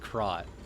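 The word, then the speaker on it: Krat: They do pronounce it crot.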